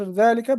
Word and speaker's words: ذلك: ذلك is pronounced ذلك but it is written without alif.